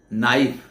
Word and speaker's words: knife: आप देखेंगे स्पेलिंग है KNIFE, नाइफ, आगे के लिखा है पर के साइलेंट है। हम के से शुरू करते हैं लेकिन के बोलते नहीं हैं।